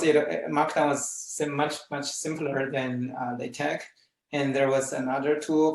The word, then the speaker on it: LaTeX: Oh, actually, how do you pronounce LaTeX here? LaTeX or LaTeX? I've heard 3 or 4 different pronunciations just in this conference. Okay. If you don't mind, I would say LaTeX.